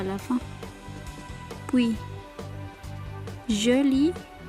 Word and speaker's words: joli: Puis, joli masculin, joli féminin. C'est la même prononciation, on ajoute seulement pour le féminin un E à la fin.